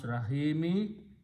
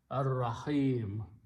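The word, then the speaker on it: الرحيم: And when you stop, then you do not pronounce Rahimi, you pronounce a sukoon on the meme, Ar-Rahim.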